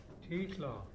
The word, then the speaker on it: Titla: Titla. The double I is pronounced as EA and bean, so it's Titla.